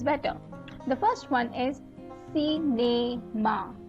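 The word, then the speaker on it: cinéma: The first one is cinema, right? So you're pronouncing the A where the E with an accent aigu is coming, right?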